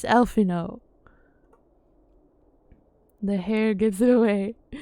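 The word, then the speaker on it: Alphinaud: Alphino Leveilleur, at your service. Okay, see, he doesn't pronounce the D, so now I know. For facts, it's Alphino.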